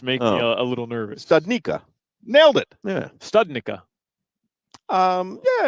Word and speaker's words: Studnicka: Studnicka.